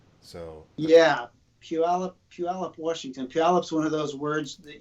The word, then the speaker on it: Puyallup: not because only natives know how to say Puyallup. Everybody else mispronounces it. Puyallup? Is that how you say it? Yeah. Puyallup. If you're not from around, you can say Pooyallup.